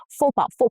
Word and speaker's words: faux pas: Faux pas, so faux, X is silent.